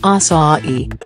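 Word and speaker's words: açaí: Many people struggle to pronounce this berry's name, but it's simpler than you might think, acai.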